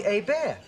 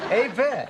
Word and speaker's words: Hebert: Not Bobby Hebert. You know what's interesting? The quarterback for the Atlanta Falcons is Bobby Hebert. No R, which I find fascinating. You know, it's Herbert, H-E-R-B-E-R-T, Hebert, H-E-B-E-R-T. Hebert.